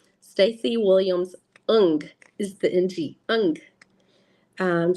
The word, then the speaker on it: Ng: know how to say her name Stacy Williams un is the NG un um she's an artist